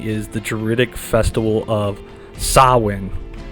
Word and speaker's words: Samhain: origins of Halloween is the jtic Festival of sawin it's usually spelled um s a m h a i n but is pronounced as sa now for those who don't